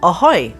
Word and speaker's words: Ahoii: Wolf Gang schmidtz from an app company called aoy that's spelled a ho o i i i most